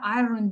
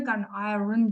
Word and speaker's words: iron: Бір күні произношениесін тыңдайыншы осыны деп қарасам, iron емес, iron деп оқылады. Р вообще оқылмайды екен оказывается.